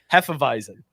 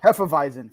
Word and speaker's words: Hefeweizen: How do you pronounce this in German? Hefeweizen. Yeah. Hefeweizen.